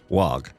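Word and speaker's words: Waaagh: Wog. Wa, right, I'm sticking with Wa. So, yes, Wa is the correct way to say this.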